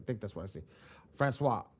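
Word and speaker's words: François: Francois, Francis, Francois. You Uh, you pronounced it correctly. oh, Francois. Okay, Francois.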